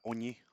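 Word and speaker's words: ogni: Como la palabra oñe, por ejemplo, que se escribe con la palabra eñe. La letra ñe no existe en en italiano, entonces se hace como con g y n.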